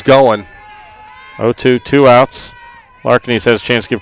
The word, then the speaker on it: Larkinis: of a roll so oh Excuse Me Kate Kaylee larkinis as I was mispronouncing it all day but it makes two of us so at bat